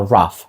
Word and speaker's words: rough: звук ф коф і слово RF що означає грубий є трішки схожим по звучанню до коф за тією відмінністю що О міняється на А тобто нероф а rough а ось це дивне ф в кінці залишається отже як вам ось